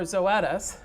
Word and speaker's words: Zoetis: i started working for zoetis rhymes with lettuce by the way if you have trouble looking at it knowing how to pronounce it um but it you